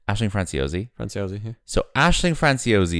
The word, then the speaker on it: Aisling Franciosi: How do you pronounce that name? Aisling Franciosi.